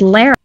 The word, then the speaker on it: Lara: It's not Laura. It's Lara. And I get to decide because that's my middle name. But it's got to have a U in it to be pronounced Laura. Otherwise, it's Lara.